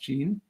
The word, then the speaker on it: Jeanne: um but today's guest is going to be Gene um it's pronounced Jean um and she's been doing email marketing really